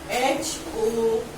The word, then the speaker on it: hour: So this H is silent over here.